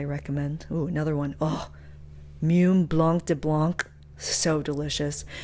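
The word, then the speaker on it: Mumm: oh another one oh mum Blanc de Blanc so delicious and most people pronounce it mum m u mm not GH Mom it's a different one just m mm California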